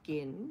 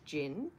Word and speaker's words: Ginn: so our surname is gin and a lot of people mispronounce it as Jin so I was sort